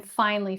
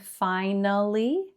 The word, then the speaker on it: finally: Same with the word finally. Again, this looks like it might be 3 syllables. Maybe you learned finally, which again, just like probably, is not wrong. You could say finally, 3 syllables. However, many native speakers end up saying this with 2.